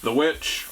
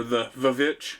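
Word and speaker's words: The VVitch: The Witch, or the Vavitch, it's why it is currently in the V's, because it's actually spelled with 2 V's, but it's called The Witch.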